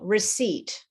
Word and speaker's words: receipt: For example, receipt. So, the bill that you get when you buy something is a receipt. It's not a receipt. Okay? The P is silent in uh there's a lot of silent B's.